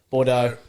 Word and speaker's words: Bordeaux: Oh, I've backed number 1, best of Bordeaux. Bordeaux. And Silent X.